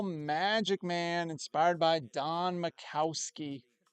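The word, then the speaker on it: Majkowski: Miracle Canon 85 steel Magic Man inspired by Don Macowski. That J is silent, folks.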